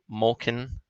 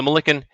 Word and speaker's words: Mulliken: We've got favoritism on the number 6 horse, Mulkin. How's that? How you say it? Mulliken. So Mulliken, 8-5.